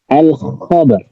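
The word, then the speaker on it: الخبر: Let's think of the pronunciation. Kha, al-khabar.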